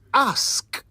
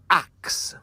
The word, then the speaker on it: ask: this word a k the proper pronunciation of that word is ask not a ask not ax it means to say